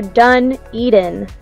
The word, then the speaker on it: Dunedin: that lovely little town think about it like this you're done eating you're not eating anymore you're done eating done eating just a little tip